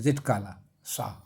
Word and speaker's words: Zitkala-Sa: ZIT जिट KAL जिट काला सा, hyphen छोटा सा हाइफन है, जिट काला सा।